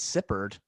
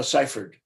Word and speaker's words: Seifert: I thought it was Sippard. No, Seifert.